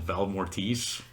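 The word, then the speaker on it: Valle Mortis: watch a short film that she made called Val Mortis. Yes. Spell that.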